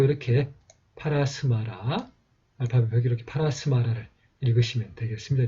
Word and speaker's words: परस्मर: 그리고 한자로는 이렇게 이 파라사마라라고 되어 있습니다만은 이제 여기에 있는 이 사마는 이제 이 스마를 여기는 스마를 한 글자로 쓰라는 뜻입니다. 이 합을 두 글자를 합쳐서 하나의 발음을 하라는 뜻으로 보시면 되겠습니다.